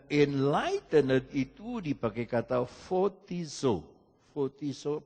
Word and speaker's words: photizo: Photizo, P-H-O-T-I-Z-O. Dibacanya F, photizo.